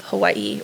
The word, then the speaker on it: Hawaii: And then there's the island of Hawaii, or Hawaii is actually how you pronounce it.